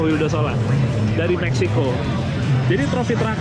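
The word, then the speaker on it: Vildósola: Mexico namanya tavo fildosola kalau dibaca sih tavo willosola tapi kita bacanya tavo wildosola dari Mexico jadi tropy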